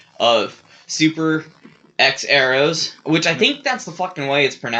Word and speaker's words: HxEros: the way it's spelled the h is silent i don't know how